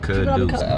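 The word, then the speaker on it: Kidus: It's spelled like dust. Mm-hmm. I could've sworn people you called you dust too. That's my full name. K-I-D-U-S. Kuduce.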